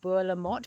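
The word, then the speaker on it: Bolamotte: description box this is It's called bu lamot but it's spelled b o l a m o t t e and it's part of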